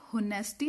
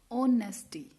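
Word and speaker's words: honesty: अब हम इसे होनेस्टी नहीं बोलते, स्पेलिंग जरूर एच से स्टार्ट होती है, लेकिन इसका साउंड किससे स्टार्ट होता है, ओ से। ऑनेस्टी, ऑनेस्टी, ओ से स्टार्ट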